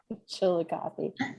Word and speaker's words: Chillicothe: a chilly coffee and i love that you pronounced it correctly too nobody ever gets it chillicothe all right let's see